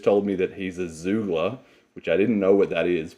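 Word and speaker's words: Xoogler: oliver who's just told me that he's a zoogler which i didn't know what that is but that's spelled x double o g l e r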